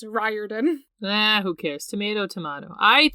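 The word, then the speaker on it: Riordan: that's wrong so there's still people who think that Rick's name is rein so uh y'all are cancelled if you think that he literally has said in multiple interviews it's ryen n who cares tomato tomato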